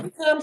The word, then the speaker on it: Chisom: Oh, it's Chisom, and I just spell it out for you immediately. You know, I'm like Yeah, Chisom, Chison.